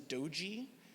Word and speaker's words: Dodzi: little bit about me my name is doji that's how you pronounce it I am a volunteer